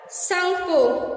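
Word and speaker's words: Tsangpo: In Tibet, it is called Sangpo, T is silent here.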